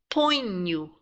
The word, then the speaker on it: ponho: Eu ponho. So it's like you're saying poin and nu, ponho.